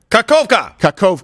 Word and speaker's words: Kakhovka: How do you pronounce... Is it Kakhovka? Kakhovka.